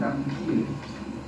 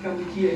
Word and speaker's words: Kampuchea: But in Khmer, which is our language, it's called Kampuchea. Okay, the English mispronounced Kampuchea again, because they can't say Kampuchea.